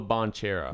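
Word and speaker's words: Banchero: Or Pontero? Oh gosh, what's his name? I don't even know how to I'm pronounce not sure. his name. I'm not sure. But, Ponchero. That's yeah, what it is. Paolo Bonchero.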